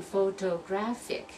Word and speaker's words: photographic: that Lance problem and you're going to see in photographic is going to be the third syllable that we're going to emphasize so we're going to